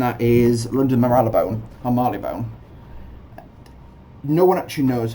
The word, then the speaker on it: Marylebone: for it and that is London Marylebone I'm Marley bone no one actually knows how you pronounce that place to banbury that's the first